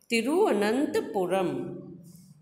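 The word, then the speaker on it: तिरुवनंतपुरम: है, कर्नाटक, बंगलौर, केरल, तिरुअनंतपुरम, इसको ठीक से प्रोनाउंस करना सीखिएगा, तिरुअनंतपुरम।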